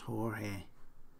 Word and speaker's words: Jorge: she said okay so the name George and team George they must be pronounced Jorge that's where the Hispanic